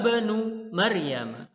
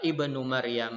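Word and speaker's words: ابن مريم: Apabila kata Ibnu ataupun Ismun berada di tengah kalimat maka hamzahnya tidak terbaca Lahat untuk ya tidak terbaca contoh nya pada kalimat berikut ini dzahaba Benu Maryam bukan dahaba Ibnu Maryam a tetapi kita Bacanya adalah dzahaba bernung Maryama dan contoh yang kedua nazmul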